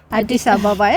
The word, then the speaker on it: Addis Ababa: Addis Ababa.